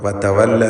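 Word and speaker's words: وَتَوَلَّىٰ: വാവുകൾ 2 ചുണ്ടുകളിൽ നിന്ന് തന്നെ വരണം. വതവല്ല എന്ന് താഴെ ചുണ്ടും മേലെ പല്ലും ചേർത്ത് പറയരുത്. വതവല്ല.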